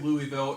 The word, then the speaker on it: Louisville: gotta do this show i don't know how louisville was ranked though how was lulu you just